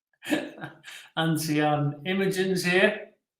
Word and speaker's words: Imogen: Imogen's here. Do I pronounce that right? Imogen? How do you pronounce that?